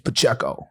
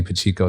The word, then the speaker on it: Pacheco: so okay it's like my name is Pacheco say it right and um and Rhode Island there's so many pachico so it became a